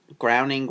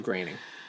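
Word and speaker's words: Groening: feel like it's Matt groaning groaning say his name draining is how you say his name yeah whatever groaning more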